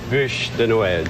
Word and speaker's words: Bûche de Noël: Bûche de Noël, Drew. Bûche de Noël. He's so patient with you. Bûche. He's mispronounced that all morning long.